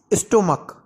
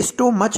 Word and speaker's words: stomach: इसे स्टोमच नहीं बोल रहे, हम स्टोमक कह रहे हैं, मतलब CH की जगह, चा की जगह हम इसका उच्चारण क्या कर रहे हैं, का कर रहे हैं, स्टोमक।